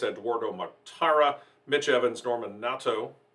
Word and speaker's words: Nato: mctara mitch evans norman natto i found out that's the correct pronunciation not nato jake dennis john eric